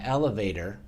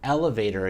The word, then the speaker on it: elevator: T on tour and we pronounce that T usually as a D called a flap T and we pronounce it